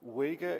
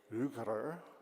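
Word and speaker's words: Uyghur: I'm sorry I tried it's not weer is the Chinese pronunciation and so ug is is the better pronunciation for us to try so um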